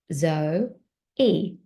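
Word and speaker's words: Zoe: chin right now and I'm saying zo e and I know my name has two syllables I felt my chin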